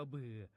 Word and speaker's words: บือ: คำ ว่า บือ ครับ บือ เขียน บ่อ ให ๆ สระอือ อ่อ อ่าง รวม กัน แล้ว อ่าน ว่า บือ ครับ บือ เป็น คำ นาม